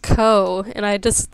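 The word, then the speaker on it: Gou: pronunciation of her name her name looks like go but it's actually pronounced Co and I just said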